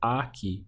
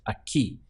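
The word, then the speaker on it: aquí: Spanish is a key notice we have an accent over the I so don't pronounce it as a key but make sure it's a key with the hit on the ending so knowing that try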